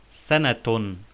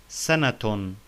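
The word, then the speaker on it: سَنَةٌ: So the word sana with tanween ad-dam would be sanatun. Sanatun. We pronounce the ta marbuta here as ta, like the ta in the word zaytun.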